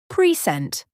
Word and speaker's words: present: For example, present, noun. I got a present for my birthday. Present, verb. Let me present my idea. The meaning changes based on where the stress is placed.